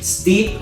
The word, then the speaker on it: steep: Free, Free, deep, Deep, feel, feel, lead, steep, steep, steep. steep, No vamos a decir steep, sky, ¿ok? Student, no, le vamos a ahorrar la E, así que digan steep, steep, breeze.